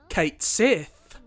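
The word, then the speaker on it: Cait Sith: I can't forget about our beloved Scottish cat Kate Sith and yes that is how they pronounce his name in rebirth so hopefully we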